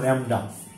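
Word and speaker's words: lambda: হচ্ছে ল্যামডা বলা আকার ম ডা ময় ল্যামডা উচ্চারণ ল্যামডা ল্যামডা ল্যামডা হচ্ছে কি শোষিত বা বিকিরিত শক্তির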